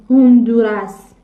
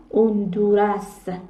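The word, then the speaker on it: Honduras: نکته تلفظی باید بنویسیم اگر ما این حرفو داشته باشیم بعدش حرف صداداری بیادش این هم تلفظ نمیشه مثلاً نگاه کنید من اینجا نمیگم هوندورس میگم اوندورس این از چه اینجا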